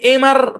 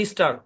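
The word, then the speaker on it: Mr.: মানে আপনি যখন এই অ্যাব্রিভিয়েশনটাকে উচ্চারণ করবেন, আপনি এমআর পড়লে হবে না, এমআর ডট পড়লে হবে না, আপনাকে বলতে হবে মিস্টার। মানে দেখবেন এটা, কিন্তু আপনি উচ্চারণ করবেন কি মিস্টার, কারণ মূল শব্দের যে উচ্চারণ, সে অনুযায়ী উচ্চারণটা আপনার করতে হয়, এমআর বললে হবে না।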